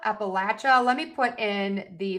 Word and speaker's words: Appalachia: Okay, for the word um Appalachia, Appalachia, let me put in the phonetic spellings for you.